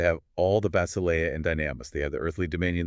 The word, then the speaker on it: dynamis: The second is dynamis, D-Y-N-A-M-I-S, pronounced dunamis, which translates to power.